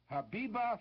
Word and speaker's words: Habiba: All you have to do is tell us who is Habiba Farim. I'll spell it for you. Habiba is spelled as it sounds, H-A-B-I-B-A, and Farim is just like it's pronounced too, F-A-R-E-E-M, Habiba Farim.